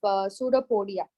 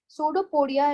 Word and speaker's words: pseudopodia: EU so where is p is silent so here that is